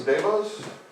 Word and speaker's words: DeVos: Devos, Devos?